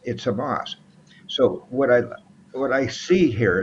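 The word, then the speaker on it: חמס: Believe it or not, Hamas or Chamas, either way it's spelled. It's Hamas.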